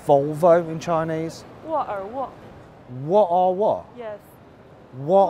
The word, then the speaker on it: 沃尔沃: 沃尔沃.